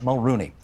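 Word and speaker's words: Mulroney: and Doug Ford and Caroline Mulrooney yes that's how it's pronounced everybody Caroline Mulrooney for coming into TVO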